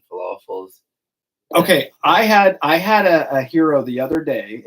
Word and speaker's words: gyro: Okay, I had a hero the other day. A hero spelled with a G, by the way, and I think kind of Mediterranean type food.